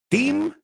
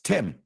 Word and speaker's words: Tim: So, team, it's not team, it's Tim. Tim. Tim Burton, como si fuera una E.